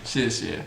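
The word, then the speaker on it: 谢谢: You said it wrong. You both said it wrong. I said it wrong. Say it again. 谢谢. 谢谢. Wow, very standard.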